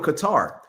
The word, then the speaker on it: Qatar: Let's pronounce it as Qatar.